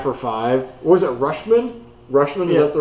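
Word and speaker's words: Rutschman: from Baltimore five for five was it rushman rushman is that the right way to pronounce it yep um I wanted him in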